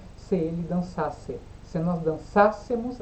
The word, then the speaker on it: dançássemos: Se nós dançássemos, aí tem acento, ó, cuidado com o acento. Dançássemos, porque é uma proparoxítona.